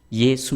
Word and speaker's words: 예수: 알 수 있습니다 그리고 이 여호수아 라는 이름의 헬라 식 발음이 어떻게 되는지 아십니까 예수 입니다 예수 요소 않은 예수의 히브리 씩 발음이 여 호소하고 요 요 소아의 헬라 식 바람이 예수 입니다 구원자 라는 같은 뜻을